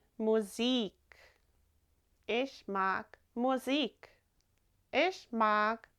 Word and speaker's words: Musik: Remember that I in German is pronounced like an E. Musik.